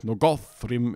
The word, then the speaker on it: Nogothrim: And it's pretty clear that nogothrim is supposed to be stressed on the second to last syllable, even though it has the same O-T-H-R sequence, and that happens in Nargothrond.